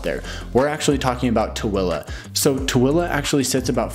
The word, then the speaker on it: Tooele: So if you don't mind a commute, you don't mind living a little bit further out, then Tooele, yes, that's how you pronounce it. Tooele is pronounced Tooele.